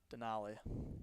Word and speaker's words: Denali: Denali.